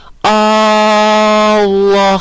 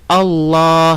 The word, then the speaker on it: Allah: Jadi Allah seperti itu, nggak boleh. Tidak boleh dipanjangkan hamzahnya. Nah, jadi kita bacanya Allah seperti itu.